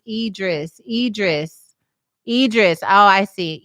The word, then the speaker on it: Idris: star says kudos to her uh ruthie says pronounce idris idris idris oh i see idris okay thank